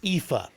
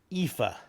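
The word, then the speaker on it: Aoife: Cusack Ah that's not how it's pronounced it's pronounced IFA I had to look it up uh IFA but it's spelled a-o-i-f-e so uh dumb American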